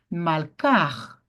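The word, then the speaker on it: מלכה: Então, como é que você vai pronunciar por causa do mapic? Malcar, malcar. Pronuncia agora o rei aqui no final.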